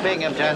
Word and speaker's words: Binghamton: That's a Binghamton. There's no P in that. The accent is on the Bing.